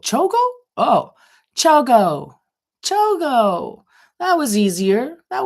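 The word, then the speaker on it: ChiaoGoo: Lisa said, Chiago is pronounced Chogo. Chogo? Oh, Chogo.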